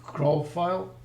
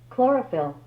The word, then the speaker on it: chlorophyll: a cold pressed actually liquid craw file I know this is proper pronunciation chlorophyll chlorophyll okay that was close so uh so if